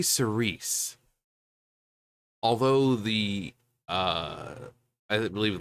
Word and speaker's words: Cirice: we'll be listening to Cerise and yes that's how they the van pronounce it um now the art